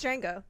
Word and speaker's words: Django: christophe walsh james fox no the d is silent it really is it's django um quentin tarantino uh